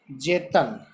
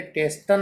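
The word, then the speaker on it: Tsetan: अब देखिए, जेतन, इस नाम को अंडरलाइन कर लीजिए। इसकी स्पेलिंग टी से स्टार्ट है, बट ये टेस्टन नहीं है। इसका जो नाम है, जो प्रोनाउंस है, उच्चारण है, वो है जेतन।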